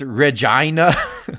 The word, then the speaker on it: Regina: you for the dollar it's pronounced Regina oh really is that how they pronounce it yeah I mean it is Canadian so it's in no surprise they pronounce it like your vagina you know so it's